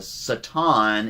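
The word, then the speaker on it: שטן: Uh Satan is actually the correct way to pronounce it in Hebrew.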